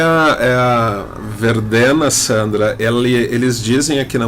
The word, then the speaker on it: Verdena: Bom, aproveitando o gancho, Sandra, nós separamos uma música aqui de uma banda italiana chamada, você corrija minha pronúncia, Verdena? Sim, Verdena.